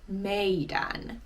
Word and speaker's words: meidän: And in Puhekieli, all you do is drop the D.